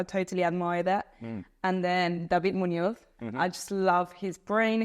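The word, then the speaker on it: Dabiz Muñoz: Dabiz Munoz. Dabiz Munoz. I'll go with your pronunciation.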